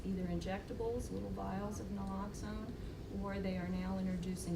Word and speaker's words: naloxone: There are small kits called Narcan kits, and it's naloxone.